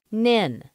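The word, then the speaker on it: NHIN: network was known as the nhi n pronounced Ninh but then this was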